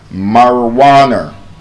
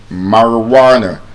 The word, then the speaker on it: marijuana: It has a short R sound in the first A and a long R sound in the UA. The word is pronounced marijuana. Marijuana, not marijuana.